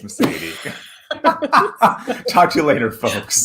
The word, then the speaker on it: Meseidy: do you say your name it's message it's mercedes talk to you later folks bye